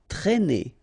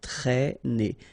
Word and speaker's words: traîner: Okay, accent circumflex here, so you should write it, but then keep in mind that you don't pronounce it, so it doesn't change the pronunciation of this combination of two letters, A and E together, it's E, okay, traîner, traîner.